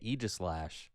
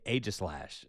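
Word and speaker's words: Aegislash: Now, if you chatters in the in the chat think that I'm mispronouncing Egislash when I say Egislash, I have some bad news for you. That is exactly how Egyplash's name is pronounced. I know that because I have a TV show with the Pokemon Company and I had to learn all this crap. You cannot just say agislash.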